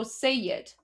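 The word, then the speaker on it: Seyed: So guys anyone anyone who is a say that's spelled s e y e d. Okay. So sayyad anyone who's a sey is essentially that means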